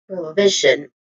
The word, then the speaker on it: provision: So again the stress syllable is the second v. So we say it as provision.